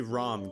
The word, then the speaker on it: Ram: And yes, I say Ram, guys. That's how they pronounce it in the dub.